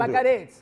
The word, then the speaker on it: Vaccarezza: talk about voice, you do roll your R's much better than I do. Could you pronounce your name, the last name with a good roll?